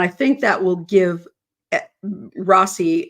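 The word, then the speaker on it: Rozzi: think that will give Rossy and uh Rosie is the way he pronounces it and Baldwin both uh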